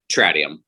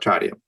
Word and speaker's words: Tradium: the series is the plague of, is it Tradium? Is that how you pronounce that? Tradium. Yep. Tradium.